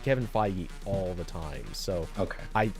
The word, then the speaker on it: Feige: and DC franchises do he's the new Kevin Fage but also he just does everything um not